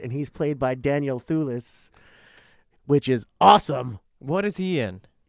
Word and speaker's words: Thewlis: And also, just so you know, they do have Fagin in it, and he's played by Daniel Thewlis, which is awesome.